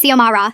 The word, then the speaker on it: Xiomara: Zimara Rodriguez, she'd call out, not even looking up from her clipboard. It's Xiomara, I'd correct politely.